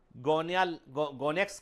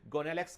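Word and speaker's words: Gonyaulax: ठीक है, कुछ लोग उसको जो है गोनेक्स के भी कहते हैं इसको, कुछ लोग गोनेक्स प्रोनाउंस करते हैं, कुछ गोनेलेक्स कहते हैं।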